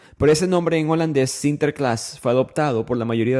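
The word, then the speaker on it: Sinterklaas: y ellos celebran a San Nicolás pronunciado en holandés sinter Class por supuesto de este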